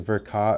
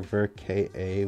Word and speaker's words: Ver Ka: for like is it is it verka or ver ka and then come to find out that a lot of people actually pronounce it for ka in japan which is interesting i